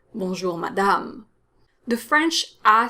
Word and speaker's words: madame: my lady ma dam notice that both a's are pronounced the same way they're both strong ass sounds but the second one is stronger it's longer because it's part of the stressed syllable which is the last syllable when you say bonjour madame so it's stronger longer madame the french a sound